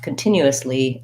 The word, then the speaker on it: continuously: also listening to you so if i have continuously i'm just gonna add one more syllable that's also unstressed that the lead um